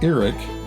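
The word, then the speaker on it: Erick: two-story brick building in eric pronounced eric oklahoma into a museum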